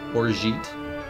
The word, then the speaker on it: orgeat: How do I pronounce that word? Orgeat.